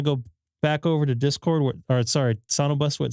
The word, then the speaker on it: SonoBus: It's called SonoBus. How do you spell it? SoNOBUS. So like it's SonoBus then? SonoBus, yeah, basically, yes.